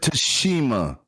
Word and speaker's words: Tsushima: And it's Ghost of Tsushima.